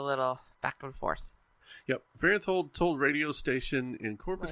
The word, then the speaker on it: Farenthold: Farenthold.